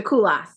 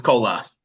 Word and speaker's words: Kolas: Koulas. Did I say it right that time? Okay. You were close. It's Kolas. Kolas.